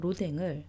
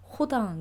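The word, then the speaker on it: Rodin: 생각하는 사람으로 유명한 조각가 로댕을 이제 한국에서는 로딩으로 배우고 읽고 하는데 사실 불어 발음에서 어 로이라고 안 하고요네 어 불어 발음은 호에 더 가깝습니다네 에서는 이제 R이 이제에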